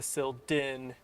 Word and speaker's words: Sil'dihn: oh because it is it is the subterrain of silda therefore making it the sil din yeah yeah yep yep